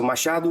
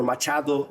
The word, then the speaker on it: Machado: So, Mashadu or Machado you would say in Spanish.